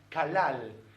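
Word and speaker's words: קללה: Maldición en hebreo se pronuncia kalal y viene de la palabra kal, que significa ser insignificante, ser algo veloz, que pasa por alto.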